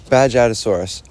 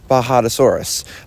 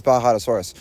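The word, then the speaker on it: Bajadasaurus: supposed to be pronounced, Bajadosaurus. Um, see, I had a little epiphany this morning, I guess you could say, and I was thinking of, you know, like Baja Blast Mountain Dew.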